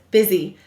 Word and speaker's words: busy: We will say to spell buzz, E. That's strange, isn't it? Buzz, E.